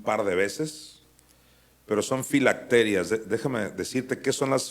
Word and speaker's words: filacterias: antes le llamaba las filacterías por alguna razón duré mucho tiempo creyendo que así se decía filacterías no entiendo por qué yo me lo pronunciaba Así cuando ya leí bien en realidad son filacterias o alguien que me